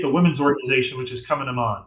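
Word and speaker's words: Cumann na mBan: And then you get the Women's Organization, which is Coming 'em On, right? Which is not spelled as it's pronounced. Coming 'em On, but look it up online.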